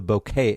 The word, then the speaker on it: bokeh: that area pretty neat it's called the bouquet effect at least like I said that's the way I was taught to pronounce it don't forget that you've